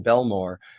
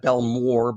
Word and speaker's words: Bellmawr: So, this is again a crash on 76 in Bellmawr. Uh not Bellmawr, but Bell Mawr, M A W R.